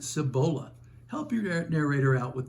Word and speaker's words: Cibola: Regional pronunciations for example I'm from Georgia where Lafayette is pronounced Lafayette in Kentucky Versailles pronounced Versailles and in the Cibola National Forest the locals pronounce it Cibola help your narrator out